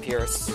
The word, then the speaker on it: Perce: Oh, I guess it's pronounced Pierce.